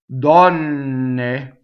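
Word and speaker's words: donne: Double N. Open O, close D at the end. So how do we make a double N? Well, this is a different kind of doubling. We don't stop phonation. We don't go Dɔnne to make a double N. What we do is we hold the N in a position while we phonate, right, on it. So it actually has pitch. I'll do it in slow motion.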